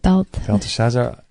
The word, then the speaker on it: Belteshazzar: Belteshazzar.